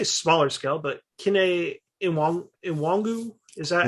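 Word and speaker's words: Kene Nwangwu: But like we saw Cam Akers, and to I want to say smaller scale, but Kene Iwangu, is that how we pronounce it?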